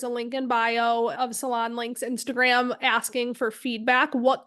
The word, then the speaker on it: SalonLynk: keep calling we keep referring to it Salon link it's spelled l y n k if anybody's looking it